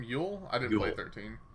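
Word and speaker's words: Yeul: Yule? I didn't play 13. Yeah, Yule, just like a Yule log.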